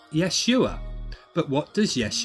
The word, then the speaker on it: Yeshua: also see that the Jesus figure's name is pronounced Yeshua but what does does yes you are mean